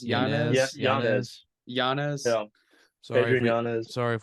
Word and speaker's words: Yanez: It's Yanez. Yanez. Yeah. Adrian Yanez. Sorry if we butchered that, but so I'm going upset here.